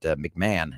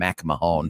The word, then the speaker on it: McMahon: Disco when Leah was trying to say uh uh was it McMahon and she called him MC Mahone MC Mahone how it's